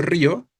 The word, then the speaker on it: río: Si yo pronuncio río, estoy haciendo tónica la I, la cerrada, la débil.